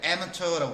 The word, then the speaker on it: amateur: 영어는 이제 원래 amateur라고 발음하는데 amateur하고 프로페셔널 차이는 이걸 먹고 산다는 얘기야 얘네들은.